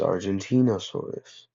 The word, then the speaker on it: Argentinosaurus: I don't care who you are, it is Argentinosaurus. Why? Because it was discovered in Argentina, and that is how you pronounce the country.